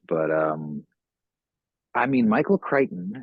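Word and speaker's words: Crichton: um I mean Michael Kiteon and there's no reason on God's green earth that it should be pronounced that way but Michael Kiteon whatever uh he's like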